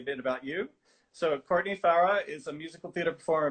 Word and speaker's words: Farrar: So Courtney Farrar is a musical theater performer based in Brisbane.